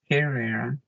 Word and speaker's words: Herrera: is errera Herrera is how it's pronounced in English and um before my